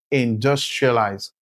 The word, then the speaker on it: industrialized: Now, in this word, industria, the syllable dus is pronounced louder and clearer, which means the syllable dus is the stressed syllable.